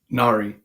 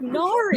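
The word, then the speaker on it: Nahri: This whole time I was trying to do some nonsense. I was trying to make it a short A, like I was white, like Nari.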